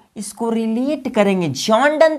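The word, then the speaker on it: John Donne: जॉन डन तो है ही, ये प्रोनाउंसिएशन है, ये उनका नाम है।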